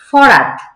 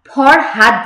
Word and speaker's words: ফরহাদ: দেখবেন আঞ্চলিকতার মধ্যে যেমন কি আছে, ফরাত নাম কিন্তু আমরা ফরহাদ জানি, ফরহাদ, সেটাকে গ্রামে গঞ্জে সেটাকে আমরা কি বলি, ফরাত।